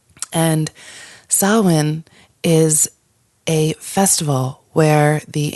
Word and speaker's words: Samhain: So nothing, it's not pronounced anything like the way it looks, but pronounced Samhain. And Samhain is a festival where